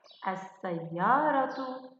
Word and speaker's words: السيارة: نعم، نشاهد سيارة عند إدخال الألف واللام عليها تصبح السيارة، أس، أس، السيارة. هل سمعت صوت اللام هنا يا عزيزتي؟ بالطبع لا. لماذا؟ أحسنت، لأن هذه اللام لام شمسية. إذن اللام الشمسية نقوم بكتابتها، لكن لا نستطيع أن ننطقها. أما اللام القمرية نقوم بكتابتها ونقوم بنطقها.